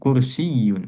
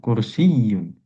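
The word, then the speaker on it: كرسيٌّ: misalkan kata lainnya seperti kursiyun ah ini enggak ada yang panjang maka pelafalannya itu ditekan di yang bertasydid ya kursiyun tuh ya-nya bertasydid maka ditekan kursiyun kursiyun gitu ditekan kalau enggak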